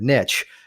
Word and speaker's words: niche: e and that's where parts of the world say niche and other parts say niche I think that really matters what really matters is we use the word niche because it rhymes with rich that would be my